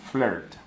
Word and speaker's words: flirt: Y con R delante, R, decimos flirt.